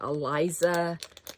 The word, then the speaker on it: Elisa: can search for her her name's Elisa but you want to kind of pronounce it Eliza it's e l i